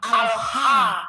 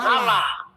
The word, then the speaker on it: Allah: Ketika kita baca alif lam lam ha itu dibacanya sebenarnya kalau dalam ejaan kita itu bacanya al-ha, bukan Allah.